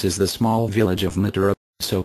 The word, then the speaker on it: Mathura: Krishna was said to have been born at Mathura, pronounced Mathura, on the river Jumna,